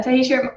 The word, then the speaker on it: Tahitia: Now, Tahitia, am I pronouncing your name right to get us off the bat?